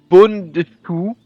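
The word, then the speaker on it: Bundschuh: près autour de ce qu'on appelle alors attention, prononciation allemande, Bundestuch, les conjurations des souliers à lacets, par opposition donc aux bottes seigneuriales, ayant, des souliers.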